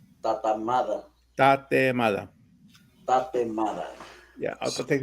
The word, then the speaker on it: tatemada: Tatemada. Tatamada.